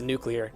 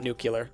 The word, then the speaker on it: nuclear: It's pronounced nuclear, not nuclear, by the way. That's just because it's spelled nuclear. N-U-clear. Okay.